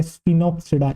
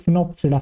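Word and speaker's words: Sphenopsida: क्या आती है बेटा, स्पिनोप्सिडा। स्पिनोप्सिडा क्या आती है बेटा, ये आपकी आती है स्पिनोप्सिडा, या फिर आप कह सकते हैं फिनोप्सिडा। फिनोप्सिडा, फिनोप्सिडा। बेटा इसके अंदर भी काइंड ऑफ एस साइलेंट रहता है, ठीक।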